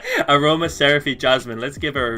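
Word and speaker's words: Aromaseraphy: Well, how do you pronounce that? Aroma Seraphy. Aroma Seraphy Jasmine.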